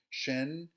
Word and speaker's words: 神: Shen, just like sen, which is quite indicative,